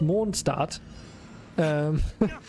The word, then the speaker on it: Mondstadt: So the first area that you arrive to has the main city called Mondstadt, which is German and actually pronounced Mondstadt, which is just translated to Moon City.